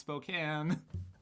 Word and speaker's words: Spokane: from spokane was like hey it's actually pronounced spokane stuff but they should